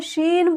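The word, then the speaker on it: ش: scene ही है लेकिन इसके ऊपर तीन नुकता है इसे शीन बोलते हैं शीन इसका उच्चारण इसका दं से होता है और इसका तलावी स इसे श निकालते हैं इसे स शीन यह सीन है यह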